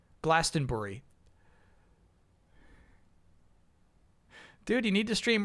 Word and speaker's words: Glastonbury: When saying Glastonberry, say Bur like Bur Buri. Glastenbury.